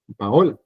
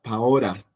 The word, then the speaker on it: Paola: Entonces sería una L larga. Paola, Paola. ¿Lo ven? Paola. Pero si ustedes escriben, ahí diría Paora, Paora.